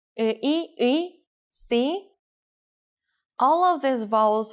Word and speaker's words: 의: For example, the sound of 의 is easy to catch because it goes from 으 to 이. Try saying 으 and 이 in a row and get faster and faster until it becomes one sound.